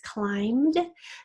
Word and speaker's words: climb: The next word is climbed. Now remember, climb is a really old word in the English language. It used to have what at the end that now is silent.